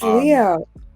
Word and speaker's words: Leeaux: Oh, it's Leeaux. Leeaux, but it's okay because it's like Cajun. It's French Cajun. It's New Orleans kind of how you pronounce it's like how you pronounce O is AEUX. EAUX.